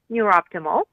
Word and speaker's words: NeurOptimal: and the particular technology i use is called neuroptimal so you pronounced it very well oh good i was